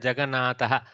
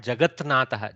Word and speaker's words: Jagannatha: there was no nakara, you would have had a horrible sandhi called jagatnatha. Jagatnatha. See how the throat and your whole chest struggles to pronounce that. Okay, jagatnatha. It's not natural.